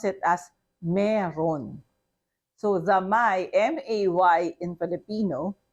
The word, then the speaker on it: mayroon: So in conversation, even if we spell it as M-A-Y-R-O-O-N, we pronounce it as meron. Okay? For you to be understood, you have to pronounce it as meron.